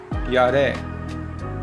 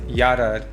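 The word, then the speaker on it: ירד: Next is Yarad. Yod Resh Aleph This is fear. Kum Kof Vav Mem, arise. Kum lekh, arise and go. This is what is told to Jonah. Next is Yarad.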